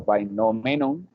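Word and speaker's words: φαινόμενον: Eso es desde el mismo fenómeno, como se pronuncia en griego antiguo, o fenomenon, si uno pues se quiere ser riguroso etimológicamente.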